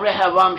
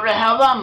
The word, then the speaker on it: Rehoboam: Actually, sorry, she became the mother of Rehoboam. She was one of the wives of Solomon. And through Rehoboam, or Rehoboam, the name is pronounced, it seems the line